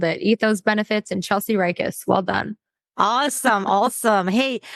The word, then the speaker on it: Ryckis: having me on the podcast yeah did I pronounce that right ethos you you absolutely nailed it ethos benefits and Chelsea rikus well done awesome awesome hey I want to